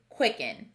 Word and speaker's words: quicken: word this word is quicken we expect this e to sound like f but it sounds like it quick n which star does